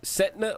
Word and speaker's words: Stenta: Now that Chris Stenta, am I saying it right? Setna or Stenta? No, you're good. Chris Stenta.